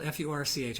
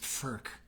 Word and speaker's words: Furch: these things get played FK is and it's it's spelled f CH I think I called it fch last week I'm sure I did it's actually pronounced FK which sounds even worse to an old Catholic